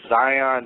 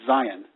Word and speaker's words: Zion: Yeah, Michael, I was going to ask you, have you ever done any work in the Zion National Park area over in Utah?